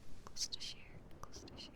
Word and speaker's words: Gloucestershire: Gloucestershire.